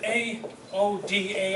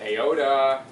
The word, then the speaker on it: AODA: this oh gosh well technically it is AODA however we were speaking a little bit earlier and I said if you pronounce it iota Oh duh whatever might